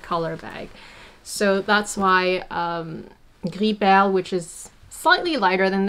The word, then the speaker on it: gris perle: Gris perle is the same color as pearl gray, or some people mispronounce it gris pearl or whatever.